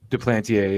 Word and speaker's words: Duplantier: Duplantier, yeah.